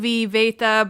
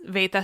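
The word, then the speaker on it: βήτα: Greek B like beta which in modern Greek is pronounced like a veta but in ancient Greek was a B.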